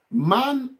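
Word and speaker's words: Mann: Man of Deutsch is simply called man, but a different spelling. So man, man. That is, you have learned A already. Now only N you never learn. So man. Man is spelled M-A-N-N in German language. M-A-N-N. Man. Man.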